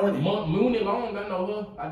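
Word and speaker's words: Muni: Mooney Long, I know her. I just don't know. It's pronounced Money.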